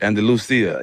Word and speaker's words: Andalusia: Andalusia.